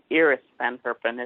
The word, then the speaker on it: Iris van Herpen: And so they, and it's actually, I keep forgetting, it's Iris Van Herpen is how you say her name.